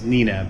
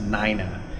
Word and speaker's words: Nina: Her name is spelled Nina, and we might say it's Nina, but it's actually pronounced Nina.